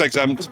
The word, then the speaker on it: XZMPT: But it's pronounced Exempt, but spelled XZMPT.